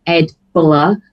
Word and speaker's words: EDBL: check him out, but he actually pronounces it Ed Buller, but it's EDBL.